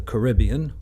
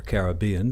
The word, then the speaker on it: Caribbean: Hey everyone, Tony Winston here for Jazz Piano College, and I'm going to cover the song Pirates of the Caribbean, or Caribbean, depending on how you like to pronounce it.